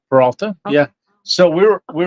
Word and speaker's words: Peralta: we're going um uh the paralta trail so we're proba not pronounced right but that's fine they get the idea I think it's Peralta yeah so we were